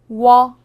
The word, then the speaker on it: 워: 워. 워는 먼저 우를 소리낸 후 바로 이어서 어를 소리내며 발음합니다. 우와 어를 순서대로 빠르게 말해요.